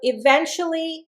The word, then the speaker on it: eventually: So eventually comes from the word event. And I want you to notice here I've got 1, two, three, four syllables and it's an adverb. I'm accenting the second syllable eventually.